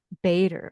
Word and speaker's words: Bator: and Diane and Diane how do you say your last name biter Bader okay I wanted to make sure I got that right Diane Bader she's a